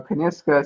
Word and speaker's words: Kyniska: and it back is it you say you pronounce it how did you come up with that name so kaniska so i wanted so it's a women's specialty